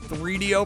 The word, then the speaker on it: 3DO: 3Dio pronounced like Dorito.